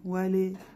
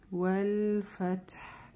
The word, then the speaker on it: والفتح: Вали, вали, это ошибка. Вал, валь-фатх. Да, буква фа, произносим опять же не фе, не фа, мягко. Валь-фатх.